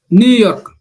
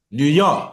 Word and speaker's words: New York: So we say New York. New York, not New York. New New York. York, New New York, York. Good. New York. You see that Okay. even the simple name of the city, you have to also pay attention to the stress patterns, right? New York. Okay. If you say New York, people will not understand what you're talking about.